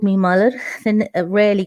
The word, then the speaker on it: Malarvilie: looking at my name my name is muller and that's how you say it properly um english for anglicized i suppose it's malavilli and that's what i